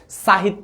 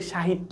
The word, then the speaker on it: সাহিত্য: practice করাবো সাহিত্য ভাইয়া দেখো দেখো দন্তসটা এখানে উচ্চারণ হচ্ছে তালেব্য স এর মত তাহলে তালেব্য কারণ আমরা বলি না যে সাহিত্য বলি না আমরা বলি সাহিত্য তাহলে তালব্য স আকার